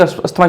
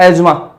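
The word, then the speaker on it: asthma: मैंने तो आज तक अस्थमा ही सुना है, लेकिन मैंने देखा किसी को बोलते हुए और मैंने गूगल पर भी देखा, उसमें लिखा यार एज्मा, ठीक है। उसमें सुना कि अस्थमा प्रोनाउंसिएशन मैंने लिखा तो उस पर क्या है, एज्मा, ठीक है।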